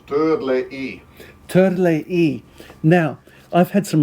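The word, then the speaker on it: Törley: I think he tumbled because I mispronounced the Hungarian. It's called Turley.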